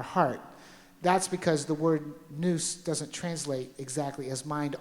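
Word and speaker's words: nous: a Greek word called noose n o u s I think is the pronunciate as the spelling and it means to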